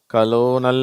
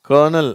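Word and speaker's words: colonel: worthy certain கர்னல் சரியா இந்த வார்த்தையில ஆறே இல்ல இருந்தாலும் அந்த உச்சரிப்பு இது கலோனல் அப்படின்னு எல்லாம் படிக்கிறாங்க அது தப்பு இது கர்னல் அதுதான் கரெக்ட் சரியா சொல்லுங்க கர்னல் கன்வெர்ட் இதுல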